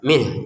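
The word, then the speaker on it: مِنْهُ: Fayattabiuna ma tasyabaha minh. Nah, kata minhu di sini kalau kita berhenti maka nun sukunnya kita baca min. Kemudian h-nya juga terbaca minh. Sehingga terdengarnya minh gitu.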